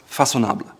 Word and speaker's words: Façonnable: Another fashion house is Façonnable. Façonnable. It's pronounced Façonnable.